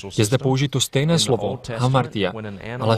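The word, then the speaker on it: ἁμαρτία: Slovo hřích existuje v řečtině jako vyslovuje se hamartia, a můžeme ho přeložit jako hřích.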